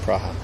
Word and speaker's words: Praha: what makes it that pra pra is how you say Prague in in check praha ha make the P